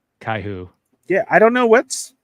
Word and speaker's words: Kaiju: Kaiju numero oo yeah I watch it in Spanish it's pronounced caiu yeah I don't know